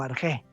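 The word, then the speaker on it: ἀρχή: Viene esta palabra de una palabra griega que se escribe arche, se escribe como arge.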